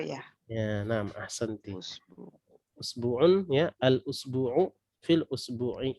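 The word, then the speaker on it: أسبوع: Jadi bacanya ini bukan isbu'in atau bukan asbau'un ya, tapi usbu'un ya, usbu'un ya, usbu'un pakai alif lam menjadi al usbu'u.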